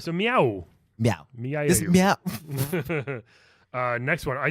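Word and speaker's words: Mieu: over a year ago I couldn't pronounce that name is Mya you its meow yeah she's a cat from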